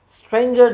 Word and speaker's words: stranger: Stranger doesn't rhyme with anger, neither does devour with clangor.